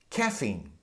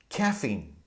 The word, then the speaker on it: caffeine: I'd like you to pay attention to the pronunciation of caffeine and Allergy caffeine caffeine allergy allergy a lot of people mispronounce those